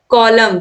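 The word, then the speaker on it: column: शब्द question number 41 है 20 letter इस साइलेंट इन डी वर्ल्ड कॉलम तो कॉलम में जो एन है ये साइलेंट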